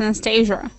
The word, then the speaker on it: Anastasia: hello but I U my name is just pronounced Anastasia Anastasia where you from Anastasia